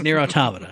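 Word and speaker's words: NieR: Automata: director blah blah blah no no it's near automata stop it everyone everyone else in the world i know you know everyone else in the world who doesn't know that's how you pronounce it stop saying it wrong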